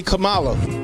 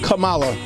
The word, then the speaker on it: Kamala: how you say it Indian people say Camala I work with an Indian woman you know how she say her name Kamala there you go there